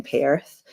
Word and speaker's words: Perth: I've got a lot of family in Perth. And in Sydney as well. So I love how you just turned Perth into a 2-syllable word.